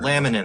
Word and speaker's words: laminin: I think the children laminin that's the word thank you somebody in the comments said it I was saying it wrong exactly so uh there's